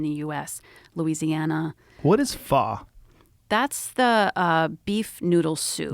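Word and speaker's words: phở: What is pho?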